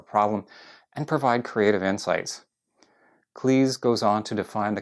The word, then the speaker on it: Cleese: And yes, he pronounces it Cleese, not Cleese.